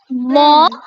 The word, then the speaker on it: mon: मॉ फेयर। देखो, मेरा को Mon बोलते frère. हैं मॉ, Mon frère. राइट, लेकिन एन Mon साइलेंट होता है frère. तो मॉ, Mon मॉ frère. बोलते हैं, मॉ फेयर यानी मेरा भाई, ठीक है।